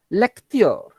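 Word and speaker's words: l'acteur: aposto over there so the pronunciation of this word now will become because of the aposto leor leor leor meaning the actor then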